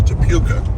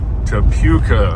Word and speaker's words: Topeka: uh going through town the proper pronunciation is to puka to puka our autopilot says why